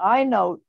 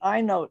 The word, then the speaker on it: EyeNote: Yeah, I just wanted to also mention, I don't know if you're going to mention it, but the iNote app, which is spelled EYENOTE, is an app that's available from the Treasury Department.